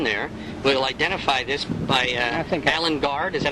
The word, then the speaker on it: Alan Guard: really want on there, we'll identify this by Alan Gard. Is that how you pronounce it?